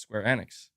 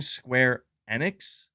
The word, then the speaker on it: Square Enix: right I guess yeah if that's how the developers are pronouncing it then I guess that's I guess that's how it's pronounced Square Annex I'll try to say